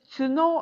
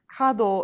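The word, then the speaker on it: 角: Um, when it's pronounced as chino, it means horn. I see. Kad is how it's pronounced when it's referring to a corner.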